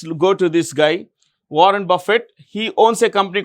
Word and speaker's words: Buffett: 1975 okay now Warren Buffett how do you pronounce the name b u FF T is Buffett b a f i t Buffett Warren Buffett is considered the greatest stock investor